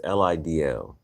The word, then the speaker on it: Lidl: I didn't know how to pronounce it. It's Lidl.